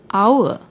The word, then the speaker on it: hour: let's take the word hour which stands for time although hour starts with H but when we pronounce the word the H is silent we pronounce it as